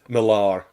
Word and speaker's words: Millar: posh when people say Millar. I did say Miller. I used to always say Miller, and then everybody started saying Millar, and I'm like, oh, I'm saying it wrong.